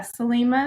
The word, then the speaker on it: Selima: Yeah, Selima is how you say my name, and my pronouns are she and her.